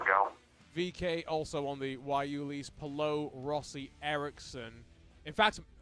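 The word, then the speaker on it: guayule: rubber derived from the wuli shrub which requires less harvesting than traditional sources of rubber yeah we a good y u Lee that's how they phonetically spell it out as well find it in northern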